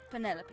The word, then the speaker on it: Penelope: I never can be bothered with all four syllables of it Penelope sounds a little ostentatious